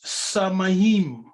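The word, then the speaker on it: שמים: just sky look samayim yes the word is samahim come on yes the yiddish is samahim if you move the sna you get mayim which is my yeah the m is not pronounced the last m as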